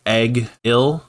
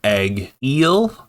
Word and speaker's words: Egil: So I in this chapter alone, I think we've gotten three different pronunciations of Egil. I'm going to call him Egel now. But one character pronounced his name Eggill. Another pronounced his name egg eel like uh the fish. And now we have Dixon calling him Eagle.